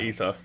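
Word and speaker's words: Aether: I'll concede ather Prime ather or ether ether I think it's meant to be pronounced ether it is yeah as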